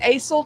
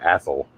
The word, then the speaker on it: Azle: think it doesn't matter as long as we don't say Athel.